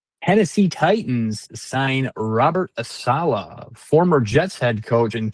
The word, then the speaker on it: Saleh: Tennessee Titans sign Robert Saleh, former Jets head coach and two-time 49ers defensive coordinator.